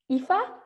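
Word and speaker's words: Aoife: I think I've nearly so it's IFA that's right you fantastic tag tag yeah I was like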